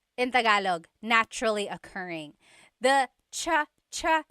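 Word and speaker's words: tsaa: And it's spelled ts aa aa. Cha. Cha. That's such a Tagalog spelling. I love it. There's the ts sound and then the double vowel uh pronunciation.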